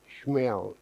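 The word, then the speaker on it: Shmuel: Torah as a marshmallow schmel is Samuel and it's spelled s-h-m-u-e-l meow so spoke Samuel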